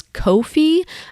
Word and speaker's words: Ko-fi: Another one is Ko-fi. So it sounds like coffee, but it's spelled differently.